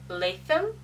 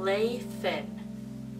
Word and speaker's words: Lathen: And they still ask, Lathen? And I'm like, no. Lathen. Like Nathan, except with an L.